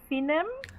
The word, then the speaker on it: Finem: You've casted both teams, and it's pronounced Finem. Yeah, I think it's Finem. That's correct.